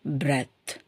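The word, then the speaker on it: breath: ஆங்கிலத்தில் வர்றது கஷ்டமா இருக்கும் சோ பிரத் பி ஆர் இடி ஹெச் பி ஆர் E ditch பிரத் பிரீத்ன்னு சொல்லக்கூடாது பிரீத்னா இன்னொரு ஈ வரணும் கடைசில அப்படி இ வந்துச்சுன்னா மூச்சு விடுறது அது வந்து ஒரு வினைச் செயல் ஆயிடும் வெர்ப் ஆயிடும் பட் இங்க வந்து பிரத்ன்றது வந்து ஒரு நவுன் இது ஒரு நம்மளுடைய மூச்சு பத்தி சொல்றோம் சோ அதனால இதுக்கு வந்து பிரத் பிரத் அண்ட் தென் அடுத்தது பாருங்க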